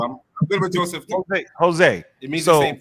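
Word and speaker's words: José: I'm start with Joseph. I mean, Joseph, am I saying it right? Jose, man. Jose. Yo, put a H there for me.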